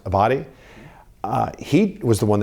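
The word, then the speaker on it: Abbate: uh the one of the deputies for direct former director Ray Paul I believe is pron name is pronounced abati uh he was the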